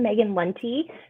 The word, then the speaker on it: Maegan Lunte: Okay, I'm Maegan Lunte.